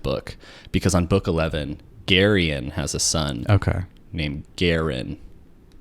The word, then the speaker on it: Garion: Garion is how you pronounce your name, right? Yes. Okay, got it. Because my dad's name's Marion, and it's it's spelled the same, just with an M instead of a G.